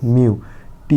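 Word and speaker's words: mute: মিউ। টি এর জন্য ট মিউট আর শেষে ই থাকলে আমরা আগের ভিডিওগুলোতে শিখেছি প্রায় শব্দের শেষের ই সাইলেন্ট থাকে অর্থাৎ উচ্চারণ হয় না মিউট মিউট মানে চুপ করা তারপরে দেখ ইউনিভার্সিটি এই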